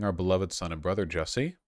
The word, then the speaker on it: Jussie: In the early hours of Tuesday morning, our beloved son and brother Jussie, again, rhymes with Sussy, was the victim of a violent and unprovoked attack.